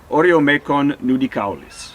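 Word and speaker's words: Oreomecon nudicaulis: One says Oreomecon nudicalis.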